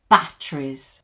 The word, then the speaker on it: batteries: Now, if you notice, we don't pronounce this E here. We just say batteries.